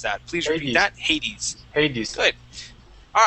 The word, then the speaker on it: Hades: Now, Hades, that's how we would pronounce that. That's I think it's the Roman god of the underworld. So basically like the devil. So Hades, that's how we would pronounce that.